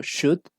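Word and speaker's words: should: que es el verbo Shut ese no lo vamos a ver en esta clase pero también hay otro verbo mal que es chut y tampoco se pronuncia la L O sea en los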